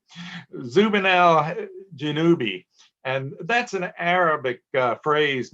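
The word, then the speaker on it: Zubenelgenubi: It is, in the South, we pronounce this word B, choice B, Zubin al-Janubi.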